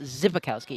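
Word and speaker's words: Szybikowski: Zibikowski is also spelled with an S, but it's pronounced Zibikowski. It's S-Z.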